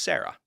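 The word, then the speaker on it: CERA: C R A and I'm told in Latin it would be pronounced Sarah so that's that's what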